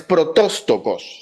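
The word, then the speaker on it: πρωτότοκος: Es protóstocos, se pronuncia así, o protástocos, pero es con no, protóstocos.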